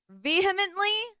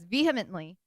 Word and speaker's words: vehemently: I think he says vehemently. That's what he says, vehemently. But I always thought it was vehemently. So I'm like, what is the pronunciation?